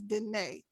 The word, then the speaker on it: Denae: denis d-e-n-e-e but i took a twist on it and we're pronouncing it as danae so she is denae